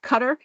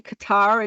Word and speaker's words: Qatar: And I do believe the British pronounce it Qatar and we say Qatar in America, and that's what the difference is.